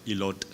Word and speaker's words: Ilot: You pronounce it Ilot, which is T is silent, so it's actually Ilo.